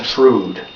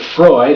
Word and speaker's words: Freud: but I'm not Sigmund frood having never heard of Freud I was pronouncing his last name the way it looked Sigmund was easy to sound